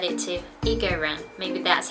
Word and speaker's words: 一个: When a character after it is the first tone, it's pronounced as the second tone. So it's not 一个, it should be 一个.